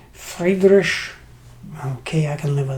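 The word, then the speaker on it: Friedrich: a video on this game which I call Freiburg but I've since been told it should be pronounced fragrish okay I can live with that and um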